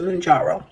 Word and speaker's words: Mounjaro: Okay, so that's how we pronounce it, Mounjaro.